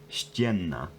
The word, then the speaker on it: ścienna: But not only that, there's an interesting phonological thing here where you get this double N in spelling, and then that's pronounced Farba ścienna. ścienna.